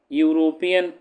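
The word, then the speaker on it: European: यहां पर भी यूरोपियन ऐसे लिखा जाता है। यू यूरोपियन तो इसका भी प्रोनाउंसिएशन जो है या से हो रहा है।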